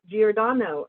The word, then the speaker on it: Giordano: one of those here tonight which is maria giordano and maria i sure hope i pronounced your name correctly we did did i